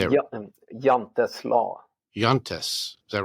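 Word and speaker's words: Jante's Law: Jantes Law.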